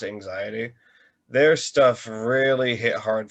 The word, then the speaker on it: AXTY: working with a group from Brazil, they're called it's spelled AXTY, but it's pronounced anxiety.